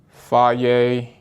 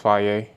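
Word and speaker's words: Fage: That's why I have them with Fier 0% yogurt. It is pronounced fier.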